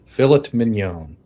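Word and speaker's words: filet mignon: Uh the Brits pronounce pronounce the T in filet minion. You're right. We do. Phillet minion.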